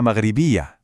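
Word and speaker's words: مغربية: So a man would say, Ana Maghribi, but a woman adds this little ah sound at the end, making it Ana Maghribiya.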